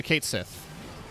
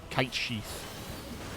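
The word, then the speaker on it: Cait Sith: um oh yeah yeah kate sith or kite sheath because it's uh gaelic i think it might be kite she like i think the th is silent um yeah with the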